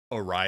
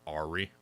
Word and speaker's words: awry: It took me an embarrassingly long time in my life to realize that awry is pronounced awry, not Ari. So for an embarrassingly large amount of decades, I was saying Ari.